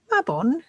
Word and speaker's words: Mabon: Now, Mabon, pronounced Mabon, does not refer to